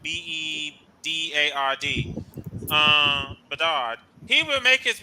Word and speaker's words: Bedard: Now, if Chicago does in fact select Bedard, I know I pronounced the name Bernard. It's Bedard, B-E-D-A-R-D.